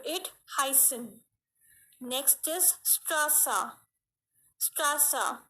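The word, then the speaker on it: Straße: Strasa, here the alphabet is given A and it is used after it. Strasa, the pronunciation is going long. You can hear it. Strasa, Strasa.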